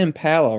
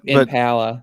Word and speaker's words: Impala: how we pronounce it we pronounce it with like an ah and they pronounce it with like an a sound really that's where it's the D but Impala Michael don't pretend it's